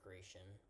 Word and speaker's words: Gratian: I mean, the emperor, the successor, Gratian. That sounds stupid, but that's like the proper pronunciation.